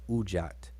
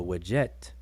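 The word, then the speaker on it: wedjat: or wajat uh some a lot of people pronounce that ujjat or ujjet i uh with the quail chick in front it should be uh with a w like my name but um the wajet ojat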